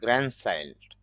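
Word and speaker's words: grandchild: এখানে খেয়াল করেন গ্র্যান্ড, গ্র্যান্ডের মধ্যে শেষে ড আছে, কিন্তু আইভিএতে এখানে ড সাউন্ডটা নেই, এই জন্য ড উচ্চারণ হবে না, এই জন্য লিখলাম গ্র্যান্ড চাইল্ড অর্থ হলো নাতি বা নাতনি।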